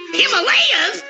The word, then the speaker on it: Himalaya: Way I figure it, we're somewhere in the Himalayas mountains. That's pronounced Himalaya. Himalayas?